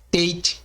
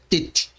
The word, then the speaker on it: Tet: Podemos encontrar em outras fontes seu nome como sendo tet, teit, teit. Isso depende muito da influência de determinada etnia judaica, sefardita, arquenazita, sabra. Sobre a pronúncia original das letras hebraicas, contudo, a pronúncia correta é tet.